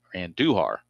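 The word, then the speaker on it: Andújar: Uh and Duhar. A little emphasis on the U there.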